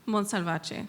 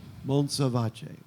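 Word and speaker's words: Montsalvatge: I'm gonna we'll set up the microphone again, but I'm gonna try to how do you pronounce his name? Monsalvace. Monsalvace.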